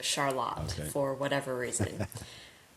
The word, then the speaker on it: Charlotte: I grew up in Charlotte, Michigan, and that is spelled like Charlotte, but pronounced Charlotte for whatever reason.